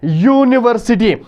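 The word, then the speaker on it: university: जरूर स्टार्ट हुआ है यू वॉवेल में आता है मगर यहां पर साउंड जो निकलती है वो वह साउंड है यूनिवर्सिटी इसीलिए यहां पे यूनिवर्सिटी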